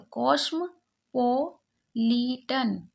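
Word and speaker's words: cosmopolitan: पहले इसे पढ़ा कॉस यहां पर देखिए मा के बाद ओ पी अगर होता है तो ओ को साइलेंट रखते हैं तो कॉस्म पो लिटन कॉस्मो पॉलिटन क्योंकि यहां पर ई ए एन को अन पढ़ रहे हैं इसलिए न की जगह टन होगा कॉस्मो पॉलिटन कॉस्मो पॉलिटन सिटी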